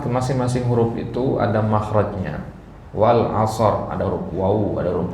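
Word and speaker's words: والعصر: ya Nah Wal As ya misalkan baca begitu ya Wal as Nah ya Enggak boleh harus meskipun wqaf harus ada hurufnya di situ ya harus ada bunyi rnya sedikit Nah jadi bagaimana sebenarnya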